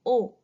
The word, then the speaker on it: aux: When a is followed by le, it will become o. A, u, x. I'll repeat. A, u, x. and the pronunciation is O.